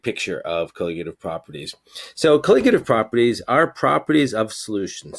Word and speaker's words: colligative: about something called colligative properties that's how you pronounce that word colligative properties and these are relevant to us most